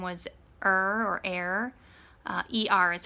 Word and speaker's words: Er: this firstborn son whose name was her or air ER is how you spell it was a wicked man and he died